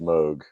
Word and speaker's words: Moog: Well, it's Um, definitely pronounced Moog.